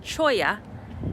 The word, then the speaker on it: Cholla: Okay, the informational sign here says it's pronounced Cholla, and it says, unless you are a cactus